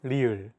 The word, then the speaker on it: 리을: One of the most unique sounds in Korean is the consonant 리을. 르. This consonant is often romanized as an R or an L, but there isn't an equivalent sound in English.